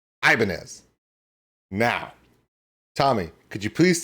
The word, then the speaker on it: Ibanez: in the United States the guitar we say Ibanez where we put this we put a hard I and that's the that's where the focus is on the hard Island Ibanez where he's saying